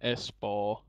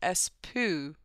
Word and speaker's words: Espoo: And it looks like, if you're an English speaker, it's spelled Espoo, which is kind of funny, but they don't say it that way. Hey, Lappe, where are you?